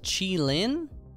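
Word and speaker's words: Qilin: I believe it's pronounced Chi-Lin, I've been told.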